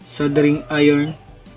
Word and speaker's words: soldering: ang ating sing iron sabi ni Google silent L sing iron at pag mainit na